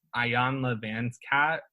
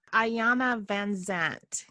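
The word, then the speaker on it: Iyanla Vanzant: I saw an interview with I think it was Ayan Leanscat with Oprah. Ayana Vanzant.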